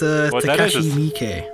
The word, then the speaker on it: Takashi Miike: Yeah, but you also butchered his last name as well. It's Takashi Miike.